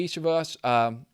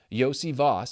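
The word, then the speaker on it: Iosivas: And then Yoshi looks like the guy, Andre Ishivas. I never say it right on the podcast. I promise I can say it. Yossi Voss. It's in his freaking Twitter profile.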